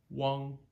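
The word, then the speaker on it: weng: side road there but U NG Wong making sure that we stop voicing those NG endings okay the n and the NG endings one Wong okay not one W one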